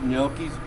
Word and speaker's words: gnocchi: We all know gnocchis before. The G is silent.